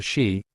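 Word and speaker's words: sídhe: the dullahan to the shei pronounced she often translated as fairies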